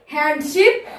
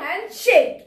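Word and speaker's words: handshake: অর্থাৎ দ্রুত প্রিয় পরেরটি দেখো আমরা হয়তো বলি হ্যান্ডশিপ অর্থাৎ হার্ট জাহাজ অথবা বলি হ্যান্ডশিপ অর্থাৎ হাত ভেড়া কিন্তু এটার উচ্চারণটা কিন্তু এরকম হবে না তাহলে হ্যান্ড জাহাজও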